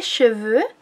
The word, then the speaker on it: cheveux: Pronuncien bien el porque si no están diciendo los caballos, ¿ok? En francés, les chevaux son los caballos y les cheveux, como el bobo, les cheveux son los cabellos.